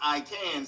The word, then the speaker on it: AIKAN: AIKAN, and it's pronounced I Can, so it's like I Can Act.